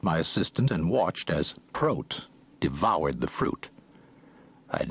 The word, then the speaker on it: Prot: "My name is Prot." He pronounced it to rhyme with goat, not hot.